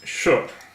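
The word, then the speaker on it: 是: first character in the second half of lesson 1 is sh. Sh. Pronounced like the first half of shirt.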